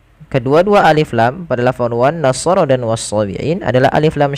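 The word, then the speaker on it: والنصارى: Kemudian pada lafal sha dan ra di sini tidak dibaca wan nasara ya, tapi wan nasara.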